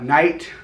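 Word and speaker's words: knight: Like, y'all ever wonder why night, the K is silent?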